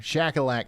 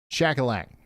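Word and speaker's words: Shuqualak: Shackleac. I dig on it. I know that. I've said that 800,000 times. That's why this feature right here is going to really be a lifesaver for me. Shackleac.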